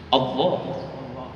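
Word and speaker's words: الله: Seandainya lafzul jalalah diawali dengan harokat fathah, kita baca tafkhim atau tarqiq? Saya ulangi lagi Pak. Lafzul jalalah diawali dengan harokat fathah, kita bacanya tafkhim atau tarqiq? Tafkhim. Allah. Iya kan?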